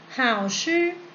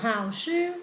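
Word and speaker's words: 好吃: เอง เรา จะ ออก เสียง หรือ เปล่า ชื่อ How ชื่อ แปล ว่า อร่อย นั่น เอง แต่ ถ้า ไม่ อร่อย นะ เลย ขา ออก เสียง คำ ว่า ผู้ หา ชื่อ ผู้ How ชื่อ นั่น เอง แต่ ถ้า ไม่ ค่อย อร่อย เท่า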